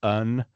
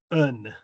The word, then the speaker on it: yn: So, why why n would be more like un un and y n s y r would be er Yes.